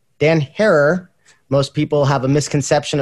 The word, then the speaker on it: Herer: to get a chance to know who Dan Hare is. Not Dan Herrera, Dan Hare. Most people have a misconception of how to pronounce his last name.